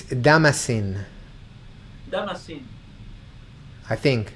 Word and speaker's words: Damascene: It's Damascene, Damascene.